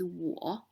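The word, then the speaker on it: 我: this meaning you again i on me is pronounced as war and written like this ta the pronunciation for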